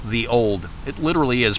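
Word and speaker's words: ye olde: That's actually the letter pronunciation for the word the. It's not ye oldie or oldie. It's the old.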